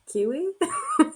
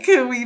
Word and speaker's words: CUI: Kiwi? Don't say Coo-ee, people.